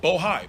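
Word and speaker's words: Bohai: rstp to Bravo Rosemont Seneca Thornton Rosemont Seneca bojay I want to make sure I pronounce it right bohi b-o-h-a-i and the list goes on and on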